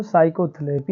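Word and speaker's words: psychotherapy: तो क्या हो जाएगा हमारा बच्चों, पूरा साइकोलॉजी, ये क्या हो जाएगा पूरा बच्चों, साइकोथेरेपी हो जाएगा। तो इस तरह से बच्चों P वाला साइलेंट होता है।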